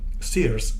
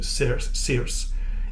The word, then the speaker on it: Circe: In fact, the pronunciation of Circe is apparently in American English Circe, in British English Circe, and if we go back to the Greek pronunciation, she's actually called Kirke.